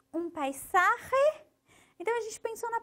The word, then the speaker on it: paisaje: Aqui tem uma palavra difícil, paisaje. Aquele R difícil, o S que gosta de sair com som de Z, mas a gente não pode deixar. Este é um paisaje peruano.